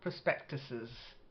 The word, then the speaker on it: prospectuses: Joss's um then prospectuses not like 's it's prospectus and then it's plural prospectuses okay then Tavern at the